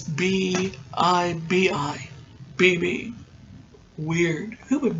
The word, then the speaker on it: Bibi: And that's how they pronounce it. According to IMDb, it's B-I-B-I.